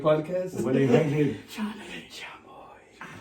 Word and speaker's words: Chale Chamoy: the a part of it is silent. It's Chale Chamoy.